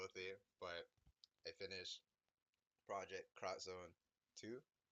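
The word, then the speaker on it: Project X Zone 2: But I finished ProjectXZone2. It's an X right there, but it's supposed to be cross. That's how it's pronounced.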